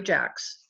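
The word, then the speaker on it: Jaax: college Nancy and Jerry Jack's the name is pronounced jacks we're both members of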